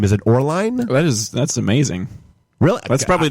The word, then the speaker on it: Oehrlein: It's supposed to have like an umlaut, so I think it's supposed to be like Oehrlein. Oehrlein.